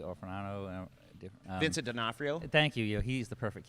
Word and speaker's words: D'Onofrio: How can I pronounce D. Orfano? Vincent D'Onofrio.